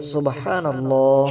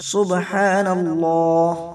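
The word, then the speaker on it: سبحان الله: গুনাহ মাফ হয়ে যাবে শুদ্ধ করে উচ্চারণ করতে হবে আমরা অনেকেই অশুদ্ধ ভাবে উচ্চারণ করি বলি সুবহানাল্লাহ সুবহানাল্লাহ নয় বলতে হবে সুবহানাল্লাহ সুবহানাল্লাহ এভাবে করে 100 বার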